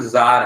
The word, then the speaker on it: Tsar: इनका नाम जार है. क्या नाम है? Tsar. जार. Z मतलब प्रोनाउंस करोगे जार.